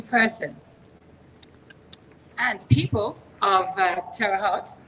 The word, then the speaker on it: Terre Haute: become a new person and people of uh tara heart terre haute did i say that correctly yes so there's a rich trick on the pronunciation front people terre haute said yeah you